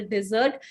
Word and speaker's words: dessert: I hope you all know what is a dessert. Pronunciation dessert. Desert is Registan. Desert has different meaning. This word pronounces as dessert.